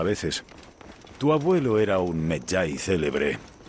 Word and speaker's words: Medjay: Creo que la pronunciación correcta es Medjay.